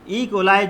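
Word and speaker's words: E. coli: एक एग्जांपल यहाँ मैं आपको दूँ कि ई कोलाई जो बैक्टीरिया होते हैं, इश्चरसिया कोलाई उसे कहते हैं, कुछ लोग इसको ई कोली कहते हैं, आपको जो मुनासिब लगा वो आप इसका प्रोनाउंसिएशन कर सकते हैं।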